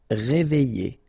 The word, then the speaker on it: réveiller: Réveiller, all right, I and then double L and the vowel after, y sound. Réveiller, réveiller. Aider, all right, combination of A and I together will produce the sound aider.